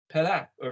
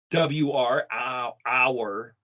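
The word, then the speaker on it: אור: Because if you spell it A-W-R, hour, no, it's or.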